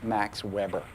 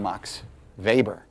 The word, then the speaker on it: Max Weber: and um for some reason we we really pronounce this correctly so people will laugh at you if you say ma Max Weber uh it's he's German and uh uh we call him Mox vber and uh we're going to be reading MOX